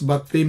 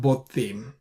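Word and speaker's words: בָּתִּים: So even though it is an unstressed closed syllable, it says it's Batim, not Botim, right?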